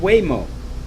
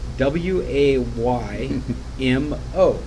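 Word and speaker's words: Waymo: morning on ARS technica are you familiar with way mo actually you are you just not familiar with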